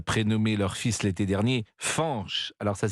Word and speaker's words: Fañch: familiales pour avoir prénommé leur fils l'été dernier fche alors ça s'écrit F a n audessus du N ce